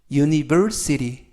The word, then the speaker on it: university: 2의 강세가 있습니다 그리고 맨 끝부분에 있는 t 발음이 트가 아니라 연음에 의해서 르 르 그래서 유티가 아니라 유